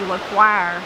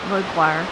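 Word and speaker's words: Lequire: And when you were talking about, I would say Lequoir, so I'm saying it wrong. How did you say their name? Well, I'm just saying it the way that I grew up here. Lequoir. Lequoir, yeah.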